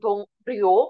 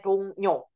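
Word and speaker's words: 동료: Dibacanya jangan dong rio karena ini sebenarnya Rio yang ini di sini. Tapi dibacanya bukan dong Rio tapi dibacanya dongnyo.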